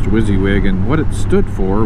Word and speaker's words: WYSIWYG: forget the acronym but pronounced wizzy wig and what it stood